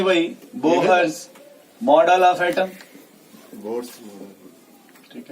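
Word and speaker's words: Bohr: Next लिखिए भाई, बोहर्स model of atom, बोर्ड्स। ठीक है, इसमें एच साइलेंट होता है, फिर भी किसी को मन करे खींच दीजिए, मन करे तो साइलेंट कर दीजिए।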